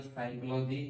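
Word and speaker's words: psychology: PSYCHLOGY साइकोलॉजी, अभी P silent हो जाएगा।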